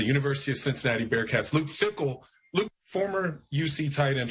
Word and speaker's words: Fickell: be on the record is your last name pronounced fickle is it pronounced somewhat differently than what everybody thinks no i'm not french and it's not fakel or anything like that uh ever since i've been a kid it's been fickle and uh you know